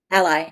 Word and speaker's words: Ally: Ally, ally.